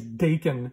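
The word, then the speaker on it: Daken: I'm going to say he's Dakin because that rhymes with bacon and he's Canadian and we do love our bacon.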